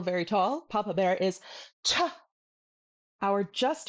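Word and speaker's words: ཆ: If you guessed cha cha you're completely correct. Cha. High tone and way too hard.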